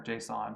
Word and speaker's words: JSON: except it uses that jason data format or json some people pronounce it that way for some reason which is simply a